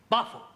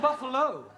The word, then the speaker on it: buffalo: a big buo oh Buffalo Peril confused yeah words that end in o like Buffalo or radio or vertigo you pronounce the O but when there is no o you don't add one understand yes sir I